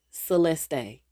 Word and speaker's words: Celeste: Her home girl's name is spelled Celeste, y'all. Mhm. But she pronounces it Celestee.